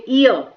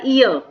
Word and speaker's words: heir: ठीक है, तो ये यहाँ पे ईयर, हियर नहीं पढ़ा जाएगा, ये पढ़ा जाएगा ईयर, तो यहाँ पर एन ईयर, तो ये जो प्रोनाउंसिएशन होता है ये बहुत मैटर करता है आपका। और यहाँ पर एच साइलेंट है, इसीलिए यहाँ पर हमने